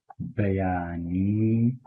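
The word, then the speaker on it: بەیانی: We say "Bayani bash." So, ba ya ni, three syllables.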